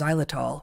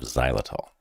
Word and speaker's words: xylitol: read here is that the active ingredient is xylitol, which doesn't sound like it starts with an X, but it does.